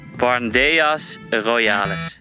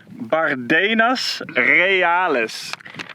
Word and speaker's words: Bardenas Reales: Natural park Barndeas Roales Reales! - Reales. Bardenas Roales this is the natural park Bardenas Reales thank you, Rens sometimes my pronunciation is terrible